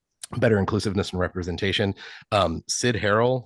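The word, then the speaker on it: Cyd Harrell: Sid Harrell, that's spelled CYD.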